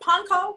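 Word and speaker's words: Pankow: got to talk to rudy poncha i poncho how do you say it panko panco call them panko crumbs two weeks ago um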